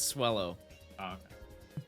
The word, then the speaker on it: Swellow: is on this route rhymes with hello it's swellow no time for jokes